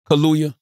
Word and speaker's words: Kaluuya: And then we had Daniel, how you pronounce the brother's last name? Daniel Kaluuya, Kaluuya.